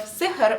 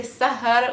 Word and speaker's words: سحر: Careful with the pronunciation of sihr, which means magic or charm, because that's something that I always do wrong. I say sahar, which is stay awake. Saharouny, in this case, is sihr.